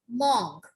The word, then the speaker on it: mangue: And what we pronounce mango? Mangue.